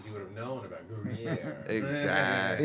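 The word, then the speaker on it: Gruyère: I don't even know how to pronounce this. Because I'm. What, House- Gorgonzola? House of Rarris? Gruyere.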